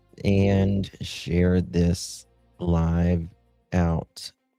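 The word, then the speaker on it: Shah: This woman her name's uh is she how does she pronounce her last name? Sha. Yeah.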